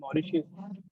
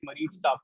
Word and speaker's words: Mauritius: countries so for example Mauritius they a lot of people could not even pronounce their name you know they would call it Marie for example okay Suriname